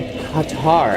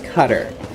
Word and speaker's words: Qatar: Nope, you're from Qatar. How do you say it? So a lot of people out here. So my dad says Qatar. He says Qatar, but I've always pronounced it Qatar.